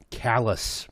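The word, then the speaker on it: Calais: worst one is uh callous in Maine yeah it's uh spelled like kalei that's brutal just using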